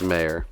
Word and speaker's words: Mayer: Myers so Michael Meyer Michael Mayer it's mayor is it mayor yeah well we're gonna go Michael Mayer then I guess it just kind of spelled like John Mayer makes sense uh anyway